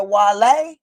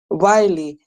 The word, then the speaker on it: Wiley: You said Wale? Wiley. Type his name on Google. Okay, Wiley. spell it for me.